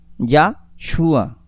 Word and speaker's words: Yahshua: Yahshua, pero lleva el acento en la U, ¿cierto?